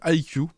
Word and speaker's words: iCUE: Pour rappel, hein, si vous voulez contrôler le RGB de vos barrettes de RAM, vous mettez le logiciel IQ, donc ça s'écrit ICUE, de chez Corsair, et ça va vous permettre de gérer les animations voilà, sur le RGB.